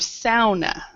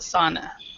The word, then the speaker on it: sauna: word originated so so I want to use the correct proper pronunciation of SAA okay s however in English with regular native speakers who have never lived in who have never had a proper SAA uh they would call it sauna thank you yeah my